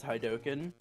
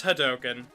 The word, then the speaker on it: hadoken: oh yep I think I pronounce it a little a little off because I say hi token instead of hadoken it's hot token dang it okay I